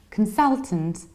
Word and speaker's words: consultant: reduce the very ending you only stress the middle syllable can sell since consult and consultant consultant and if you